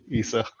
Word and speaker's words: Esau: Iso. Esau. Esau? Why don't you be Esau? Yeah, Esau. Yeah. Esau? Yeah, Esau. Yeah, I'm pronouncing it right.